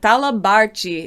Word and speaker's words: talabarte: in the states but talabarchi is how you say it in portuguese and if you're unfamiliar with portuguese teas often become a ch sound and e's and uh